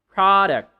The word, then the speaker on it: product: If you are talking about the noun, then you should have the syllable on the first first syllable. You should have the first no you should have the stress on the first syllable.